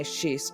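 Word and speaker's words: schist: Now, when I say shist, it's got an s in it.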